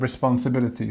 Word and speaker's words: responsibility: It's a long word And we've got 1, 2, 3, 4, 5, 6 different stresses here, or 6 different syllables. So responsibility. 1, 2, 3, 4, 5, 6. So remember that we have our secondary stress here, and then the main stress here.